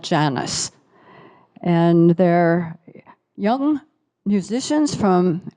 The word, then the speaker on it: Janus: The Janus Quartet, at first I thought it would have to be Janus or Janus or something, Spanish pronunciation, but they call it Janus.